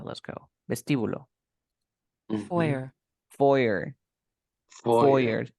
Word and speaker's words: foyer: Ya estás en el teatro y te proponen tomarte algo en el foyer. Aquí, vamos a escuchar cómo se pronuncia, porque es una palabra francesa. Let's go. Vestíbulo. Foyer.